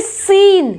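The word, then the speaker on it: scene: देखिए इन वर्ड्स पे, सी एस के बाद देखते हैं पहले सीन, सीन, यहाँ पे देखो सी क्या है? यहाँ पे साइलेंट है, सीन बोल रहे हैं, है ना,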